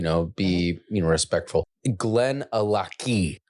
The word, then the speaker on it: Glenallachie: Glenn alaki ali. Okay. So, like you know, Loch Ness Monster L O C H. It's the same thing.